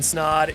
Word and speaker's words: Snaadt: My name is Snaadt, It Rhymes Thawed, and you're listening to watching the Rhymes Thawed podcast, the business podcast for entrepreneurs in the state of Iowa.